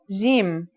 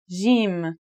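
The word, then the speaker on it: جيم: first letter is Jim this one is easy to pronounce it's somewhere between a g and a j depending on the accent for example Standard Arabic Syrian or Egyptian in Standard Arabic and Syrian Arabic it should sound like the J in the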